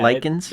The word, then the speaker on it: Lycans: Lycans. Is that what it is? Yeah, Lycans? Like lycanthropy.